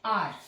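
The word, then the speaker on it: hour: I have been waiting for dash आर, एच यू आर को हम आर read करते हैं, प्रोनाउंसिएशन इसका आर है, घंटे के लिए हम आर का यूज करते हैं, तो एच इसमें साइलेंट होता है, तो आ की साउंड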